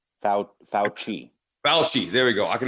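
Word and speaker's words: Fauci: highly regarded and I'm GNA probably say his name wrong but faly faly the scientist he had fouchy F fou fouchy fouchy there we go I can never my wife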